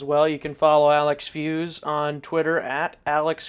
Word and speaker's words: Feuz: of Fe you Z so what I always tell people it's it's fe not fu so that's what I